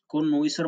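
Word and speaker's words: connoisseur: एस एस य ई यू आर कोनोई सर कोनोसर मतलब विशेषज्ञ जो हमारा दूसरा वर्ड है बहुत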